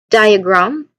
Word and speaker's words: diagram: The main emphasis here in the word diagram, it should be on the first syllable.